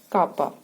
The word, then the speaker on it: kappa: हैं, प्रोनाउंस करते हैं, it's pronunciation is एज kappa. We pronounce it as kappa, and its denotation is this.